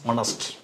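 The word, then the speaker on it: honest: அவை என்னவென்றால் இந்த வாக்கியத்தை பாருங்கள் ஜான் இஸ் ஹனஸ்ட் இது ஏசுக்கு உச்சரிப்பு ஏச் என்ற எழுத்துக்கு நீங்கள் உச்சரிப்பு கொடுக்க கூடாது. ஏச் என்ற எழுத்துக்கு உச்சரிப்பு கொடுக்காமல் ஹனஸ்ட் என்று வாசிக்க வேண்டும். இது சைலன்ட் ஏஜ் இந்த ஏசுக்கு இங்கே சத்தமில்லை.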